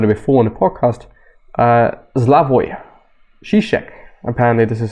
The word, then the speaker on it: Slavoj Žižek: Which essentially, and I've been talking about it before on the podcast, Slavoj Žižek, apparently this is how you pronounce him, modern day philosopher, actually pretty prominent